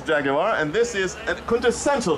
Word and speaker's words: Jaguar: Yes, 3 syllables, Jaguar, and this is a quintessential Jaguar, the 1952 XK120 Fixed Head Coupe, owned by Simon Rubin.